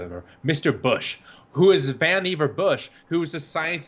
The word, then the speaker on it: Vannevar: Right, but Vannevar Bush, whose name rhymes with Beaver, by the way, he had the whole thing about that in his childhood.